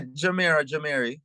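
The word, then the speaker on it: Jemere: Now, I don't know if I'm saying his name wrong. I'm saying Jameer. Am I saying it wrong? Yeah, Jamiri.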